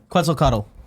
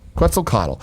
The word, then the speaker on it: Quetzalcoatl: Quetzalcoatl. Quetzalcoatl.